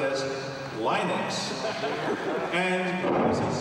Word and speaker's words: Linux: If you are Linus Torvalds, you probably pronounce it as Linux. Well, on the other hand, if you come from the West Coast of the United States, you pronounce it as Linux.